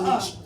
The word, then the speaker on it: ENYCE: It's spelled ENYCE. You ever seen that brand? NYCE. ENYCE. But people call it a Nietzsche in the hood.